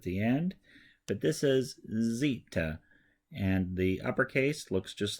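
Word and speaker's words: ζήτα: Z is at the end but this is Zita and the uppercase looks just like a Z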